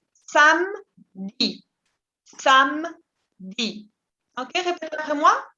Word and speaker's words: samedi: Sábado, la esa E es muda, no se pronuncia. Vous dites samedi.